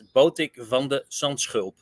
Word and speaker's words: Botic van de Zandschulp: Well, if you want to pronounce it in the Dutch way, it's Botic van de Zandschulp. So it's a sch. I think that's the difficult part.